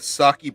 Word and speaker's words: sake: enjoy it yeah okay been saying it wrong this whole time man it's okay okay I don't know who to listen to sure no it's sake it's sake oh okay that's fine